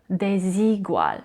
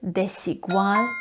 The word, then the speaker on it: Desigual: between the two vowels some of the spanish language learners tend to pronounce it as z desigual which is incorrect remember the s in the word desigual needs to be pronounced